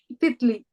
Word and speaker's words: titli: butterfly butterfly is called titli at Lee like the tea yeah t-i-t-l-i typically titling right right